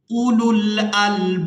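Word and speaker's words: أولو الألباب: के साथ मिला देंगे, वाव यहाँ पर भी साइलेंट ही रहेगी क्योंकि ये वाव भी रस्मुल खत है। हमजा पेश उ, लाम लाम पेश लुल, उलुल, हमजा लाम जबर अल, बा अलिफ बा जबर बाब, उलुल अलबाब, वलियतज़क्कर उलुल अलबाब, किताबुन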